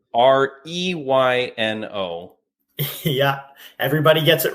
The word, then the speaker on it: Reyno: Please welcome FLA's Breakout Fighter of 2023, Sam Reyno. I appreciate the introduction. There it is. And Sam, for those listening on audio only, you are at Sam _Reyno on Instagram, but it is Reyno.